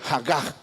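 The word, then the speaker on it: הָגָה: Essa palavra que foi traduzida na nossa Bíblia como medita, é uma tradução de uma palavra hebraica que se pronuncia Hagar.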